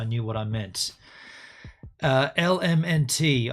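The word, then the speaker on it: LMNT: what I meant uh L MNT I spelled it wrong it's spelled l m NT so it's all abbreviated element the best electrolyte this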